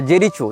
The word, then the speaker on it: Jericho: लेकिन इजराइल हो या फलस्तीन हो, इसने जेरिको या जेरिचो, जो भी इसका उच्चारण भाषा में किया जाता है, JERICHO, जेरिचो या जेरिको, जहाँ तक जेरिको होना चाहिए उच्चारण, ये फलस्तीन का प्रांत